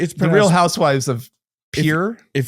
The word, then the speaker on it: Pierre: It's The Real Housewives of Pier. If you're in North Dakota, it's pronounced Pier.